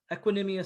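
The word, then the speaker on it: Equanimeous: Brown of USC, and obviously he's got I can never pronounce his brother's name. Is it Equanimous St.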